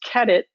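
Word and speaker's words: QEDIT: IT and I've been corrected that can be pronounced ket it even though it's spelled QED ite and then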